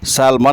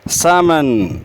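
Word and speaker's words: salmon: नाम है सैलमन मछली तो उसको सैलमन नहीं बोलते बल्कि इसमें एल साइलेंट है सेमन सेमन सेमन उसके बाद आता है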